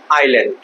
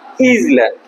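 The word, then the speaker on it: island: ইউ can also go to Saint Martin's আইল্যান্ড, অনেকে এটাকে উচ্চারণ করে কি? ইজল্যান্ড। ঠিক না স্যার? এটা উচ্চারণ কি হবে স্যার? আইল্যান্ড। এখানে দেখো এই এসটা অনুচ্চারিত থাকবে, এসটা উচ্চারণ হবে না।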